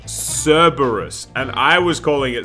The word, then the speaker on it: Cerberus: I uh I was the one calling it cerebrus as a child and then people corrected me saying it's cerebrus no no no no no no God I'm getting it all wrong Cerberus it's pronounced Cerberus and I was calling it cerebrus but when